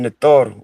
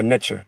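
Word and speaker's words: Netjer: They are called Netor or Netter or Netcher. There's different pronunciation, tomato, depending on what dialect and what time period you're speaking from.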